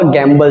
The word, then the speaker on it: gambol: एक तो आपने पढ़ा हुआ गैम्बल, जुआ खेलना। स्पेलिंग क्या होती है गैम्बल की मेरे भाई, GAMBLE। स्पेलिंग थोड़ा सा अंदर कर दिया, GAMBOL, गैम्बॉल।